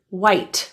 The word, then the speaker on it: white: The same thing happens to the word white, that T too.